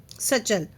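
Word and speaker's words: satchel: आई had only a small cheap सचल। ठीक है? यहां पे ए टी साइलेंट है। सचल यहां पे एटी क्या है? साइलेंट है। तो उसको क्या बोलोगे? सचल।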